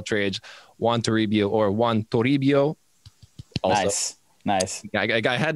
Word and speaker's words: Juan Toribio: jack of all trades want to rebuild or juan toribio nice nice yeah i had to nail the pronunciation for you man i mean i took